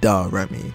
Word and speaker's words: Da Remy: That's how you say it. It's Da Remy.